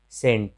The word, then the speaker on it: scent: फिर साइंस या साइंस, तो यहाँ भी एस के बाद सी है, तो एस के बाद जब भी सी आता है तो सी का उच्चारण नहीं होता है।